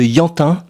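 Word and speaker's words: Ianhin: Le dernier album qui m'a un peu marqué, c'est le l'album de Yantin. Ça s'écrit I A N H I N.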